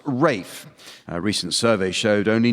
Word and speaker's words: Ralph: Although his first name is spelled R-A-L-P-H, it's pronounced Rafe.